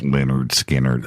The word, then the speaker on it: Lynyrd Skynyrd: Pronounced Lynyrd Skynyrd, unbelievable first three albums there, just Ed King, right?